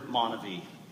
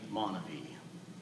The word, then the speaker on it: MonaVie: while others pronounce the word MonaVie. For me, it will always be MonaVie.